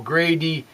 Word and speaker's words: gradient: And so, since we have that gradient, gradient, well, gradient, 3, well, only 3 syllables. I thought it was 4 syllables there for a second, but that would be a really big word for me.